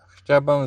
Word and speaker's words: chciałbym: Chciałbym this O is a U actually. This W is a V. So chciałbym zamówić dużego hot doga.